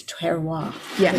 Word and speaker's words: terroir: as you've taught us to taste the wine, and it's terroir.